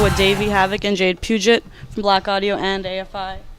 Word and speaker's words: Puget: guys we're here with davey havoc and jade puget from black audio and afi it's your last